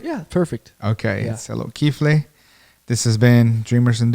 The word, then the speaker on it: Tselot Kifle: Tselot Kifle.